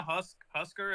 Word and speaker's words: Husk: Yeah, then a Husker is how you say his name?